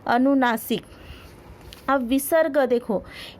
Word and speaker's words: विसर्ग: अब विसर्ग देखो, इसका उच्चारण ह की तरह किया जाता है।